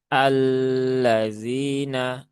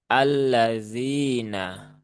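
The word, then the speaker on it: الذين: Dan perlu dipahami untuk membaca lam bertasydid itu tidak perlu ditahan terlalu lama. Jadi jangan keliru ya. Karena masih banyak sahabat-sahabat kita yang membaca dengan alladzina. Nah, itu kurang kurang tepat ya. Kurang tepat. yang tepat adalah cukup tunaikan tasdidnya seperti huruf-huruf yang lain. Alla alla alladzina seperti itu.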